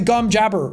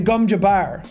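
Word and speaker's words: gom jabbar: movie i got to hear how everything was pronounced properly like the gum i kept calling it the gum jabber which is the the needle up to the neck and it's the gumja bar and i was like oh that makes a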